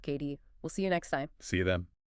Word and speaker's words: Cady: Thanks for joining us on this deep dive into HM Emily Caddy, pronounced KD.